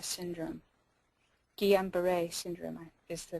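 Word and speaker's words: Guillain-Barré: earlier has not thus far been linked to gamber syndrome Gan B syndrome is the correct way to say it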